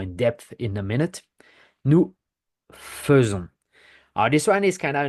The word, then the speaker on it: nous faisons: We don't say nous faisons, we say nous faisons.